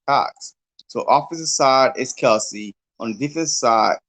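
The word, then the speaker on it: Kelce: I said Jason Kels. I think it came out today. That's how we're supposed to be pronouncing his name now.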